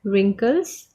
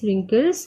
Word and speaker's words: wrinkles: First word is wrinkles. Again WRINKLES, wrinkles, and here this W is silent.